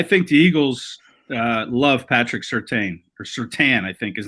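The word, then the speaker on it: Surtain: the alabama crimson tide and um it's patrick certain is how the last name is said i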